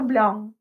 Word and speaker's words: blanc: C на конце не читается. Le blanc.